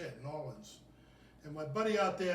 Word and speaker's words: New Orleans: in new orleans that's how you say it new orleans and my buddy out there at gnomes tavern